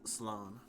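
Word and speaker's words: Slán: Slan. Losers. A quick way of saying goodbye in Irish, a shortened version of Slan Apkil, or a safe journey home. One dialect would pronounce it as Sloan.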